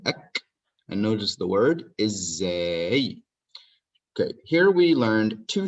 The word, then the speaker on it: ازاي: Notice this ending, ek, and notice the word ازاي. Okay, here we learned two things. ازاي means how. And I have Z twice because I pronounce it twice.